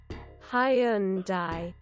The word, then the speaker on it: Hyundai: of this brand well I'm gonna give you a pronunciation that is as close as you can sort of get it from the original genuine Korean pronunciation of the brand and that would be Hyundai yeah yeah and